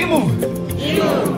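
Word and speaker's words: imu: after me and say emu one more time that is spelt i am you not e m you like how it sounds one more time for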